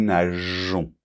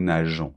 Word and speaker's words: nageons: Donc là, pour que la prononciation soit régulière, on doit rajouter ce petit E qui fait que on prononce nous nageons. Nous nageons.